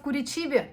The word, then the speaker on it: Curitiba: On l'appelle Kuriciba, paraît-il, mais en russe, ça s'écrit Curitiba. On est arrivés hier vers 19h.